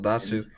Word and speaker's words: Datsyuk: Pavel Datsyuk. Is that how you pronounce it? Yep, Pavel Datsyuk, Henrik Zetterberg.